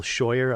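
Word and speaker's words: Scheuer: out alex station with michael shoyer i believe is how you pronounce his last name his character was one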